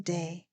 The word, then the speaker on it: Daa: morning I am day of dhb devotion Health and Beauty recovery Network my name is pronounced day it is spelled daa daa are my initials